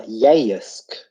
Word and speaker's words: Yeisk: You're not going to say Yeisk. You're not going to say Yeisk. Yeisk. Yeah, You're Yeisk. going to say Yeisk. Like, give it some welly, It's not Yeisk. It's Yeisk. It's only one syllable.